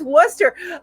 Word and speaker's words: Worcestershire: lawrence had forgot to mention love the pronunciation worcestershire sauce we pronounced it as wester oh oh and my in my world is